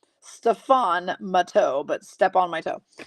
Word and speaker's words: Stefan Matteau: I said step on my toe, Connie. That's how I pronounced it. Stefan Matteau, but step on my toe.